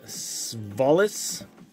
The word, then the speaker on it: Svalis: We got Melanson, Carruthers, Latimer, star rookies of Gruber, and we have another star rookies of Svalis. That's how you pronounce his name.